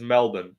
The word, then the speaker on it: Melbourne: how guys like anic and a lot of Americans say Melbourne yeah it's Melbourne yeah not Mel Melbourne I don't know I